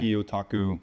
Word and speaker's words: gyotaku: or gyotaku gaku yeah g y is like gyotaku okay gyotaku which translates like fish